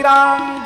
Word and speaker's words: राम: पर मंत्र में आपका ऐसे नहीं चलेगा कि कृष्ण को कृष्णा कह दो यह मंत्र में नहीं चलेगा राम को रामो बोल दो